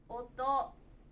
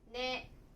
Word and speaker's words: 音: Nó có thể được đọc là "oto", "ne" hoặc "on".